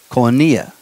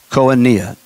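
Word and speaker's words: koinonia: Oh n IA ki n o n IA Konya Konya 28:42 Konya KO i n o n I I got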